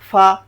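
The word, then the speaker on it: ف: এরপরে কি আসতেছে ফা উচ্চারণটা কি হবে এক আলিফে ফা ফা এভাবে ফা তারপর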